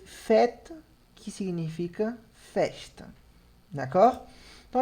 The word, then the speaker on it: fête: fête. Fête. Percebe o E no final, que não se pronuncia, igual esse aqui, né? Que a gente viu aqui em cima. Então, nesse caso, fête. Som de E. Fête.